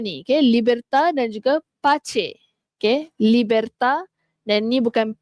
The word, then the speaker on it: pace: Pace. Bukannya pais tapi pace.